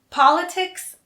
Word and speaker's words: politics: political notice two things politics always has an s at the end second politics and politician have the stress on the first syllable and political has the